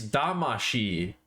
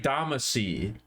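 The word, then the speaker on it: Damashii: m a c y it's damashi in Japanese it's da a m a sh I in Japanese Katamari damashi for some ungodly reason when they brought it over to America they changed the last syllable so that it reads like damasi instead of damashi and I have no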